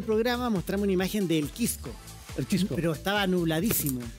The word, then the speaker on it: Quisco: Permítame felicitar al colega porque ha dicho muy bien Quisco. Sí. Pronunciar eso porque acá tendemos a decir Quisco. Quisco. Quisco. Quisco. Quisco. Lo felicito. Suena como Quisco. Lo felicito en cámara. Hay que pronunciar la S.